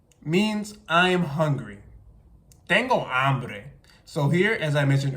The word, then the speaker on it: hambre: have man so tengo hambre and not tengo hombre for I'm hungry in Spanish and then here also the H is silent so I'm not going